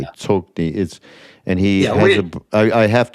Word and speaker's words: Tsoknyi: I'm incorrectly probably pronouncing his name, Tsokni. You're leaving out the harsh K, I think. Yeah. I think you're right, though. I could be, but pronouncing Tibetan. Yeah, right. Where are we going to go? It's Tsoknyi Rinpoche.